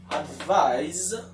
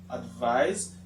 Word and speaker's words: advise: Advise and advice sound. You see the difference between the pronunciation? The first one is advise with a z sound, and the second one, advice with a s sound.